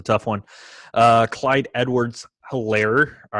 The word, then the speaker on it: Hilaire: one uh clyde edwards hilaire all right i guess the h is silent elaire the eclair that we like to call him he's a